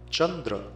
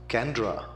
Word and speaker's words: Chandra: does not know that in Sanskrit transliteration the single C stands for the CH sound Chandra is spelled as c a n d r a and mispronounced as kandra if you were to